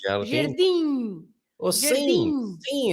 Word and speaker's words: jardim: Do you remember that I said that the M is there not to be pronounced as an M, right? No, just to give you the So finishing sound. it's Jardim. just the sound. So the sound is the I.